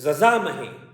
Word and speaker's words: यजामहे: त्रयंबकम यजामहे पढ़ते हैं लेकिन वैदिक संस्कृत में उसे पढ़ा जाता है जजा महे ओम त्रयंबकम जजा महे ऐसे पढ़ा जाता है तो वैदिक तो